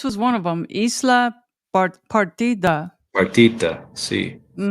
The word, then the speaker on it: Isla Partida: one of them, Isla Partida. Partita, see. But D is pronounced a little different.